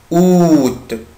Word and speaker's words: août: juillet juillet chaloupe juillet août août où tu avales ici je ne prononce pas la lettre à large bande a